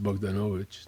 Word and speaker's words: Bogdanovich: It's pronounced Bdanovich.